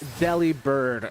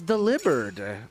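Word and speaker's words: Delibird: Oh, it's Deli Bird. I consulted my Pokemon book. It's delivered. I've consulted other Pokemon materials and it said delivered.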